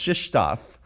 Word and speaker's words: Krzysztof: It's Coach Krzyzewski at Duke. So now you know that you can pronounce my co-author's first name. It's Krzysztof, because that's how you get figure out all those Z's.